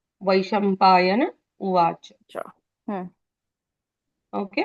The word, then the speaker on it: वैशम्पायन: यन यन यन हम्म, न का न नहीं आना चाहिए, न आना चाहिए, है ना। नल का ही न है, लेकिन उच्चारण पूर्ण होना चाहिए।